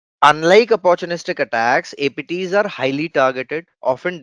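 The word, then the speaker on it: ATT&CK: MITRE has a framework, ATT ampersand CK, which is pronounced as attack framework, adversarial tactic techniques and common knowledge.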